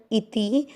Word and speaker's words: इति: पहला चरण इति, ई और ती दोनों मात्रा छोटी है, लंबा नहीं खींच रहे।